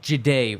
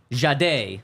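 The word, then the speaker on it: Jahdae: Speaking of Jeday, really quick. Um, so you're both saying it wrong. Jade, there you go.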